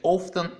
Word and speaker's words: often: Often можно произносить в двух вариантах, то есть можно сказать often или often. Я привык говорить often, но хотя вот недавно в Болгарии встретил девушку из Англии, англичанку, и она говорила often.